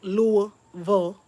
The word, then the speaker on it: Louisville: There's a in the Highlands they call it in Louisville, and say it right, Louisville.